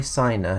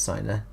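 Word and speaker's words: Siner: a guy called guy signer who um i think is pronounced silent who is very famous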